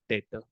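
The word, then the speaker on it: debtor: डेटर and creditor, B silent.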